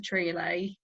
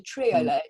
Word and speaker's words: triolet: That's the wonderful thing about a triolet. It's spelled Trio, like trio, and then LET at the end, Nicola.